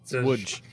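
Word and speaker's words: Łódź: Woods. Whatever. I'm trying to get Ben, are you cramming consonants together again, Ben? No, that's how it's pronounced.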